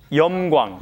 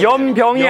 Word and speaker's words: 염광: 염광. 염광? 네. 염광? 예. 빛하고 소금. 아. 예, 빛하고 소금이죠. 예. 그 잡지인데. 발음 잘하셔야 합니다. 네. 염병이 아니라 염광.